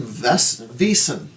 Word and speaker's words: Vaesen: We are rolling Vaesen, as Wikipedia tells me it's properly pronounced.